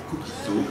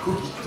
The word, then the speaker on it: cogito: Alors nous avons eu pour les latinistes une discussion pour savoir est-ce qu'on dit cogito ou cogito. Il semblerait qu'aujourd'hui les deux prononciations soient acceptées, mais pour le principe on va prendre cogito.